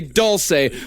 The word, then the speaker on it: Dulce: Doulce is technically the proper pronunciation of doulce bass.